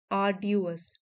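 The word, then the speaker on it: arduous: आर्ड्यूअस, आर यहाँ पे हम साइलेंट रखेंगे।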